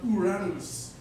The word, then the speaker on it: Uranus: The orbital period of Uranus, which is the pronunciation of that particular planet that doesn't involve urine or anuses.